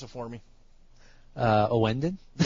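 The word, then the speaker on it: Ouendan: Pronounce it for me. Owenden? Yeah, Owenden.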